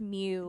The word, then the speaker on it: Mu: right so what if we were there it's pronounced mu that's why it's moo people didn't call us